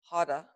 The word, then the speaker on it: hara: We're going to use the tantric hara. It's H-A-R, it's pronounced hara, but you're not going to say it.